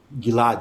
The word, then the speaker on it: Gilad: Gilad? Gilad, yeah, exactly.